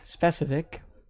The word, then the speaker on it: Specovik: at the start there spec of ik specific is the way you're supposed to pronounce it specific is going for